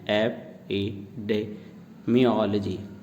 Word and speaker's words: epidemiology: EPIDEMIOLOGY pronunciation है एपिडेमियोलॉजी.